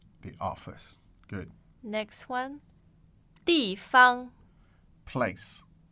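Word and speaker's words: 地方: So again, the pronunciation, please. 办公室。 So office. 办公室。 The office. Good. Next one. 地方。 Place. 地方。 Place. 地方。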